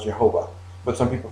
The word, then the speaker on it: Jehovah: it is pronounced differently in english it is usually pronounced jehovah but some people pronounce